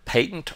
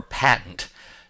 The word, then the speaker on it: patent: set is pronounced either patent or patent generally in England you hear it more as patent in the United States you hear it as patent has two distinct meanings